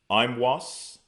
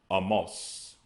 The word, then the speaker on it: Amos: Amos, which we pronounced Imwas. Imwas, but they pronounce Amos.